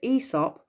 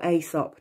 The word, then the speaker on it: Aesop: And his name was Aesop or Aesop, depending on how you want to pronounce it.